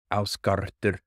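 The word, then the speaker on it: Ásgarðr: When I really have to learn, that's going to be really difficult for me, is the proper pronunciation for Asgard is actually Ausgardr, Ausgardr.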